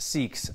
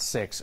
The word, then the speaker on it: Sikh: it wrong that six should be pronounced seeks not six we looked this up